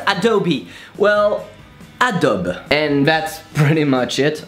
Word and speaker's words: Adobe: So how do we pronounce Adobe? Well, Adobe.